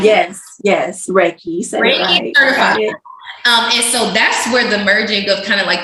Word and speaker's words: Reiki: like a specialty but is it am I pronouncing it right it's called Reiki or right yes yes Reiki um and so that's where the merging of